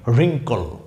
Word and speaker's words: wrinkle: আপনাদের আজকের সর্বশেষ শব্দ এই শব্দটি রিঙ্কল, WRINKLE, রিঙ্কল।